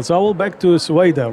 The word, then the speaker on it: Soweda: So I will back to Soweda, right? Did I pronounce it correct? Perfect. Soweda, tell us about your journey to your study